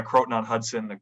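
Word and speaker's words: Croton-on-Hudson: Yeah, Croton on Hudson.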